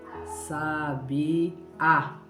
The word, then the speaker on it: sabiá: Escrevo as 3 e eu coloco acento na primeira palavra, no final, na vogal A. Como ficaria? Sabia, por causa do acento. Sabia. Se eu retiro o acento agudo desta palavra, ficaria sabia.